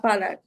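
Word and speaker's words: فلق: ফালাক কলকলা হবে শেষে। ফালাক।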